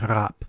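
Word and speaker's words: rape: hadn't been invented yet scholarly research leads most linguists to believe that it was indeed pronounced rap which was related to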